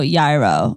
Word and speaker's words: gyro: confusing it's a hero some people do pronounce the gyro yairo and so i thought